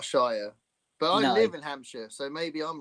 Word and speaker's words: Hampshire: Hampshire. Hampshire.